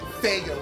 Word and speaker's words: Faygo: Pop I think it's called Faygo pop what kind of what it's fago okay if I was to